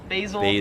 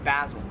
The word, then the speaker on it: basil: I would pronounce this, or Americans would pronounce this as basil. However, in Australia, it is pronounced basil. This nut right here. Now, I've heard people in America say basil before. More on the rare side, but it's there. But basil, yeah, I can't correct that.